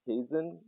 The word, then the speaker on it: Kaizen: was what was it Kaizen uh yeah it was k-a-i z e n transformation like Transportation president like a kaiser roll like uh you know the kaiser roll is yes yeah spelled